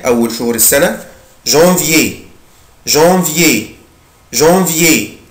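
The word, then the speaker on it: janvier: جانفيي جانفيي جانفيي, بنطقه كده, جان جان جانفيي جانفيي يناير.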